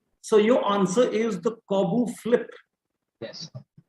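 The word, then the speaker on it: Corbut: is our not Olga Corbett. Yeah, Corbett flip. So the move is the Corbett flip. So your answer is the Corbu flip. Yes. Named after Olga Corbu. The T is silent.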